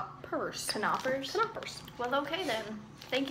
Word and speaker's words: Knoppers: okay next snack knoppers Nappers Nappers a waffle sandwich filled with nougat and milk cream FYI the K is not silent it's pronounced kers canoers canoers well okay then